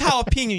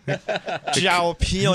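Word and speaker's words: jalapeño: No, that's jalapeno, you dummy. What an idiot I am. Jalapo. It's pronounced jalapeno at what restaurant?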